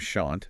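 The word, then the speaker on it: Shont: We've been looking at this discussion started by someone named Shant. That's S-H-O-N-T, rhymes with front.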